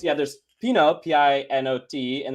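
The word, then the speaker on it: Pineau: it's yeah there's Fino p-i-n-o-t and there's p-i-n-e-a-u uh and this is the p-i-n-e-a-u so it's Pino I'm not French either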